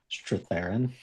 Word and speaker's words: Strathairn: Strathairn. Yeah, Okay, Strathairn.